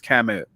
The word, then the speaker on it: Camus: And then, like I said, Sartre and Camus are one of these philosophers that you often read in high school and are often embarrassed that you did.